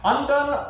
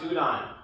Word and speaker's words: udon: Lumi asks, undone or ramen? The fuck is undone? It's pronounced udon.